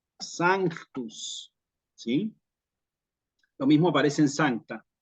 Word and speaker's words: sanctus: lo mismo que sanctus la gente por ahí dice santo santo santo Santos no así Digamos como tal cual como lo escuchan No santus santus Santos en la misa en latín Sí pero la palabra en realidad tiene una c en el medio de tal manera que lo apropiado Es decir sanctus lo mismo aparece en